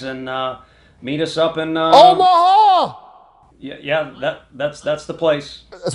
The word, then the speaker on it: Omaha: It's kind of three syllable. It's rhythmic, right from the diaphragm. Omaha!